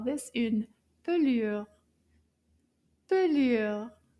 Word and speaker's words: pelure: In French, we call this une pelure. Pelure. Let's clap to find out how many syllables. Combien de syllabes dans le mot pelure?